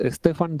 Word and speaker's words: Stephane: Se escribe a la francesa. Es Stephan.